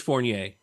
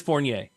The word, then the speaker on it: Fournier: The last name is Fournier. It's Fournier. a French name, and growing up in Central Florida with that name made me foreigner. But it is Fournier.